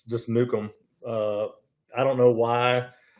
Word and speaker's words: Nukem: But uh yeah, so we actually pronounce it the same way. Uh it's just Nukem.